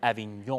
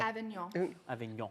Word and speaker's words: Avignon: about here with Elizabeth, author of Eleanore of Avignon, and as I've learned, Avignon. Avignon.